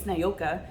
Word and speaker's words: Niyoka: I mean, my name's Niyoka, and it's spelled exactly the way that it's pronounced, but it's just different.